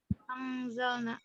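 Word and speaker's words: أنزلنا: Gimana bacanya, Iva? Anzalna. Angzalna. Angzalna, betul.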